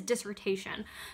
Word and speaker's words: dissertation: doing the dissertation so I'm going to use the French pronunciation but the word is dissertation now the reason why